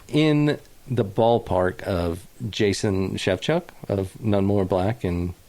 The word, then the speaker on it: Shevchuk: up there, but in the ballpark of Jason Shevchuk of None More Black and... All right. Jesus, a few other bands. I had no idea how to say his last name. Shevchuk.